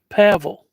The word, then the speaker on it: Pavel: Read just like gravel, but Pavel.